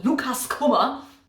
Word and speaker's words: Lukas Kummer: He's from Austria, so I should probably pronounce the name German. So Lukas Kummer is a comic/graphic novel